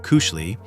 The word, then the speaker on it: koselig: Koselig, pronounced kushli, is the Norwegian equivalent